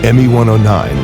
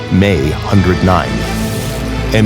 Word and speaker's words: Me 109: the Luwaffa personnel who pronounced it May 109. ME 109 was the contemporary English interpretation of the designation.